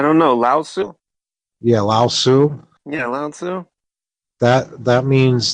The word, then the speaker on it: Lao Tzu: Yeah, Lao Tzu.